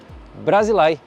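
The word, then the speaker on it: ברזילאי: Brasilai. Bom, tem um a a mais, mas se escreve em hebraico da mesma forma, sem a vogal, apenas com consoante. Então você pode ler Brasil ou Brasilai.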